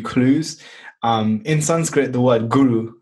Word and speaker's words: guru: In Sanskrit, the word guru, like everyone's heard the word guru, which is pronounced totally incorrect. It's guru, but it's basically saying in the root meaning of the word, somebody who points the way.